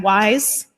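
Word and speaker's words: WIHS: inter agency HIV study has a terrible acronym we pronounce that wise whatever it was before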